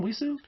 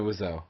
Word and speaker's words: Wiseau: Wiseau? Tommy Wiseau.